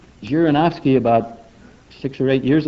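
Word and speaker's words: Zhirinovsky: his name janovski thank you thank you right jirinovsky about six or eight years ago was an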